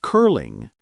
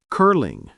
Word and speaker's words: curling: In curling, the L is light because it begins the next syllable. Light L words, L begins the syllable. Barley, Berlin, curling, garlic.